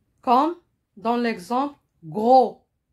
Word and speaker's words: gros: s quand dans l'exemple gros gros vous m'écoutez je ne prononce pas le s gros s est une lettre muette et se trouve à